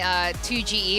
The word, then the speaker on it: Toge: 2GE or Toge.